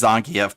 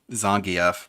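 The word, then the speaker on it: Zangief: with Z why am I bothering why it's pronounced Zang F by the way Zang F but sure Phil you can pronounce his name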